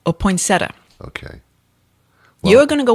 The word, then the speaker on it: poinsettia: poinsettia. Aha. Did everyone say it again? Poinsettia. Okay. There's two schools of thought on that. All right. Poinsettia or poinsettia.